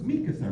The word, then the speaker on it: Mikasa: How do you say that name? She was like, Mikasa? I'm like, so it's Mikasa, right?